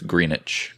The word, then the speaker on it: Greenwich: Well, it is spelled Greenwich, but it's Greenwich.